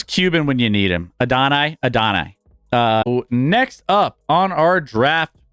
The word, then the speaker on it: Adonai: It's pronounced Adonai.